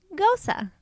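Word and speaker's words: Gose: okay is German and is pronounced much the same way as the name Rosa with them this is on the O and the e making an O sound so it sounds like Gosa I'm sure I looked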